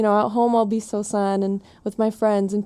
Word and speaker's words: Sosan: introduce myself to as San would be like wait is your name Susan or san is it spelled with the o or like what and